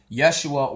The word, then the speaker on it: Yeshua: are those times so this is uh yahusha Yeshua or Jesus and I'm gonna go also into